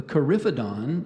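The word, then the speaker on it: coryphodon: elephant and sometimes small or rudimentary horns the carifidon is thought to have been a primarily vegetarian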